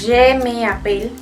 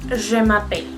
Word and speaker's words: je m'appelle: Si dijéramos je me appelle, no suena igual, no deja que uno hable con fluidez. Entonces, en ese sentido, por eso es que se quita la E de la primera palabra y se pone el apóstrofe, que es esa comillita que está ahí arriba. Entonces, en ese caso, como veíamos, se pronuncia je m'appelle.